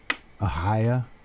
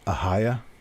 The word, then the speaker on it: Ohio: I guess Midwest wing it's a higher not pronounced Ohio it was a higher but that's only for the southwestern part of the state Cincinnati up to Dayton